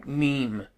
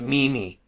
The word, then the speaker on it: meme: Like the whole, meme, for instance. I used to think it was Mimi, like a name, like a lady's name, Mimi.